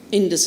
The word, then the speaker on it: Indus: The Arabs couldn't pronounce Indus as Indus. They always had a h in the pronunciation.